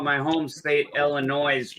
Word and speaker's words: Illinois: I I don't call And I also call my home state Illinois because I don't believe in the silent s. I think it's stupid. Illinois.